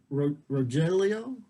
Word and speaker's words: Rogelio: Rogelio? Yeah, the G is an H, so it's Rogelio.